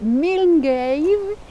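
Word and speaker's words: Milngavie: une petite ville dont la prononciation n'est pas facile mais c'est mil ça s'écrit milavi c'est le point de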